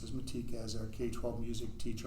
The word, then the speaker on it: Matika: F is a 1-year certificated contract, approved Madeline Matika, pronounced as Matika, as our K-12 music teacher under a 1-year certificated contract, step 0 for 23-24 school year.